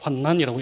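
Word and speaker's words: 환란: 제가 발음을 환난이라고 하는 것에 조금 어 혼돈이 있을지 모르는데 환난이 아니고 환난이에요. 환난은 어 난자가 아니고 란자로 기록을 합니다. 그래서 제가 환난이라고 읽는 거예요.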